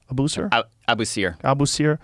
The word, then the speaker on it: Abusir: Abusir? Abusir.